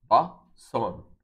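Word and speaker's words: bosun: So you go back, now you are sure of how to pronounce the word. It is bason, right?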